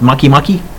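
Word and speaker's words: Makemake: kind of egg-shaped there's I think it's pronounced monkey monkey and we're finding more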